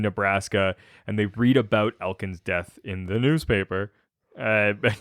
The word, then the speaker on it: Elkins: as john knew him he was saying his name wrong yeah i was like elkins there's not more than one of you here i don't like that i'm gonna call you elkin uh yeah so they now we're now back